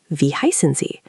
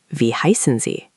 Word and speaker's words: Wie heißen Sie: Now, to ask what's your name formally, you would say, Wie heißen Sie? Can you try that, Devendra? Pay attention to the Z at the end. Wie heißen Sie?